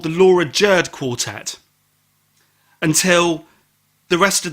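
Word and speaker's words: Jurd: definitely called dinosaur is Laura jerd that so unfortunately and rhymes with curd curd lemon curd I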